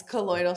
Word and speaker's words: colloidal: And that's another so colloidal silver, am I saying it right? Yes, colloidal silver, exactly.